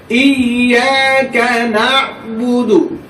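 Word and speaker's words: إِيَّاكَ: ইয়েটা দুইবার উচ্চারণ হইবে।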